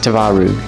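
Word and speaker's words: twaróg: I believe it's pronounced tvaroo. But the closest market I could find was about an hour away.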